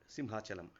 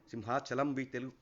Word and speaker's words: Simhachalam: Simhachalam we call it in Telugu, but rather we can say it in a Sanskrit sense as Simhachal, just like Arunachal.